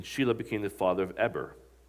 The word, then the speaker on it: Eber: It's not Eber, it's pronounced Eber, I learned.